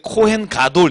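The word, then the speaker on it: 코엔 가돌: 발음 은 * 코 엔 가돌 * 입니다 .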